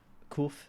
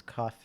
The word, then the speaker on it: CUF: I used a private hospital, um, Cuff, Kuf. That's how they pronounce it. It's Cuff if you're English.